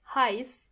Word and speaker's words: heiß: When you see the letter a and e together, for example, in the last word heiß, the sound they make together is I. heiß Moving on to some